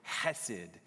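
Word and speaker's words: חסד: It's the It's the Hebrew word that needs to be pronounced from the way back of your throat part. So it's the word hesed. I don't It's like It's like you were about to cough and say it.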